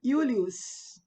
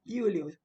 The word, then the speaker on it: Iulius: Esse Júlio é pronunciado Iulio, Iulius, que o J se pronunciava como I, né? Iulius.